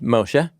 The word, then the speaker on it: Moshe: So, he's named Moshe because that rhymes with the Hebrew word for draw up.